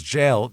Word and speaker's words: gaol: He spells jail Gaol. What? That's jail. Not jail? Every other word is spelled normal.